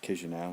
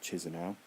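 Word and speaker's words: Chișinău: started in the capital kiss you now it's pronounced kiss your now not cheeser now cuz you now is a pretty cool city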